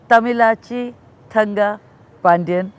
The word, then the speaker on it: Thamizhachi Thangapandian: Tam elachi Thunda Pandiyan for being here and I hope I pronounced your name correctly when I come treasure